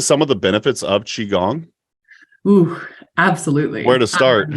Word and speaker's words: Qigong: You've brought up is it pronounced Qigong, right? Yes. Qi is, or the QI is always pronounced like CHI in Chinese medicine. Awesome. Can you speak to some of the benefits of Qigong?